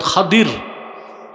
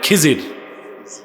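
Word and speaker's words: خضر: আর উনার মন্ত্রী ছিল হযরত খাদির। কি নাম? আপনারা ভুল বলেন খিজির উচ্চারণটা হচ্ছে বিফাতহিল ওসরিদ খদির আমরা বলি খিজির উচ্চারণগুলো ঠিক করবো আমরা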